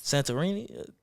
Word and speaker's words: Santorini: Santorini.